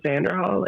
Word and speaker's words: Xanderhall: His new name is Vanderhall. It's short for his real name, Alexander. Oh, Xanderhall?